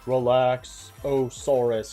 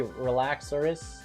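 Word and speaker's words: Relaxaurus: I'm amused that people pronounce them as Relaxosaurus, because technically they're simply Relaxorus.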